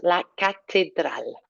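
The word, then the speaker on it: catedral: come up La Cathedral now I know it looks like cathedral but there's no h in there so make sure it's a nice La Cathedral so the tongue comes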